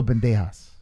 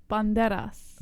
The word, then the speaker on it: Banderas: Antonio Bandejas. No. What? Antonio Banderas.